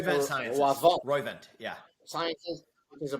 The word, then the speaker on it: Roivant: You founded and served as executive chairman of, how do you pronounce it? Roivant Sciences. Roivant, yeah.